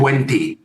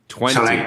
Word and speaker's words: Tuenti: Sorry that I'm not already Tuenti. Tuenti?